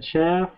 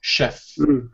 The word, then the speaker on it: chef: This includes a gardener, a chef, uh, and a housekeeper. Yeah. Good. You see this word, even though it's spelled ch, we pronounce it like sh. So, chef.